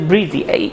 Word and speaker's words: breeze: ব্রিজি কিন্তু না, শেষে ই আছে, এই জন্য বলবা না যে ব্রিজি।